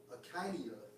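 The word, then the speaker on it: ἐγκαίνια: When you get to the Greek of that dedication, of the Feast of Dedication, it's Strong's G 1456, and it's pronounced as Akinia, all right?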